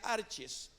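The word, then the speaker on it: ἀρχαί: comienza con principado Y esa palabra pues del griego se pronuncia arches que quiere decir los primeros creados Note usted primeros en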